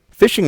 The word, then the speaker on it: phishing: Again, not spelled like regular fishing, but fishing spelled with a ph.